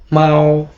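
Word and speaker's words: 猫: বিড়ালের চাইনিজ হচ্ছে মাও মাও। মাও এখানে বাংলা উচ্চারণ মাও।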